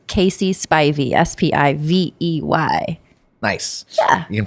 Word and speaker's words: Spivey: on all the social medias at it's casey spy v s-p-i-v-e-y nice yeah you can find me at